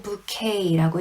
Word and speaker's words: bouquet: 근데 발음은 bouquet라고 읽으면 되고 와인에서 나는 향을 bouquet라고도 해요.